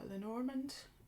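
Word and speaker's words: Lenormand: was about to get my lenorman as they apparently pronounce it in English I never knew now I do and I'll stick with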